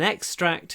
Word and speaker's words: extract: This is an extract from his novel. So the verb is to extract, and the noun is an extract. So the stress moves. To extract, an extract.